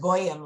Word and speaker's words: Goyim: Goyim, well, we pronounce it Goyim lots of time.